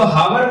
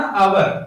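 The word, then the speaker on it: hour: इसको हावर मत पढ़ना, आवर, एच साइलेंट है।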